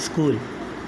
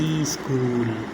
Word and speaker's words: school: Okay, कुछ चीज़ silent हो जाती है जिसको हम ईजी कर लेते हैं, और इसको स्कूल पढ़ते हैं न कि ई पढ़ते हैं। ई बहुत से लोग बोलते हैं ई स्कूल, ई स्पून, तो ई स्पून नहीं बना, ये स्कूल है।